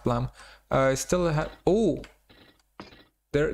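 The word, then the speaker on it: Blame!: chapter of blame blam that that that's it's pronounced plum i still have oh there there's our there's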